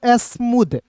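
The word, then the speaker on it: smooth: फिर देखिए यहां पे एस एम एस M double O टी एच क्या पढ़ेंगे? स्मूद। ठीक है? यहां पे टी एच का उच्चारण द के रूप में करेंगे। और शुरुआत में एस एम है तो इसे पढ़ेंगे एस्म डबल ओ है तो इसका उच्चारण ऊ के रूप में और टी एच है तो द पढ़ेंगे।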